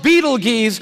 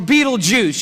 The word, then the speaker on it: Betelgeuse: heard about this star it's called beetle G's or Betelgeuse you can pick your pronunciation I'm obviously going with Betelgeuse and Betelgeuse is incredible